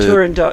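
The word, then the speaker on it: Turandot: The turand dot.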